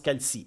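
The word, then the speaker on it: Calce: C A L C E. Ça se prononce Calci.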